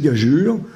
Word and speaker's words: gageure: fond les deux pourrai l'orthographe nous aide pas vraiment c'est gajur le E est ici pour faire prononcer le G alors la même chose